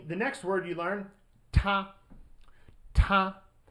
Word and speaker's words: 他: Ta, right? So just hit that T hard, and then you get he or him.